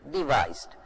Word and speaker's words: devised: It's a different spelling and it is pronounced in a different way, devised.